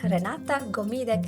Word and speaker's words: Renata Gomide: And today we have Renata Gomide coming from sunny Spain today, but originally from Lithuania. Did I pronounce this correctly?